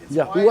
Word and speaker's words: Yihua: I think it's like Yahoo or something. Yeah, it's Yahoo.